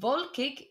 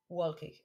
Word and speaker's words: wolkig: It's important to remember the W in German, auf Deutsch, is pronounced like a V. So windig and not windig. Wolkig, not wolkig, okay?